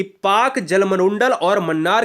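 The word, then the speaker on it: Palk: पाकिस्तान वाला नहीं है यह पाक जलसंधि पहला के को हम पाक कहते हैं ठीक है ना इसमें ल साइलेंट होता है मैक मोहन रेखा भारत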